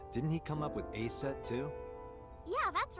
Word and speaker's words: Aset: Horus's mom is named Isis, but in ancient Egyptian, it's pronounced closer to Iset or Aset.